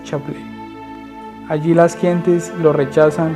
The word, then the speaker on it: Chablais: Era el Chablais, se pronuncia Chablais.